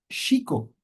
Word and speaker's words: México: Ya una vez quitaron la X, pusieron la J pronunciamos con J o con G con el sonido en realidad es sh como aquí Shiko y Shiko ya pueden podemos saber que tiene dos partículas shi y co.